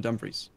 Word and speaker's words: Dumfries: And in Dumfries. And that's probably not how you pronounce it, I know. No, Dumfries is how you pronounce it.